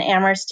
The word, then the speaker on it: Amherst: mercy D you and Amherst is am h er St the H is silent that's a little fun